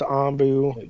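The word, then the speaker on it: Anbu: Honey Boo Boos, Ombu, Ambu. If you haven't seen Naruto, it's Ombu.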